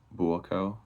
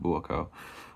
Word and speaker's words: Buakaw: I believe that's how you say it. Buakaw. Yeah, that's how you say it. Buakaw.